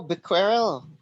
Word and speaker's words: Becquerel: I think it's Becquerel. I You think it's can Google it Becquerel. for the Becquerel, pronunciation. It's on Google. Google pronunciation. I Yes. think It it's sounds like Becquerel. Quirrell in Harry Potter.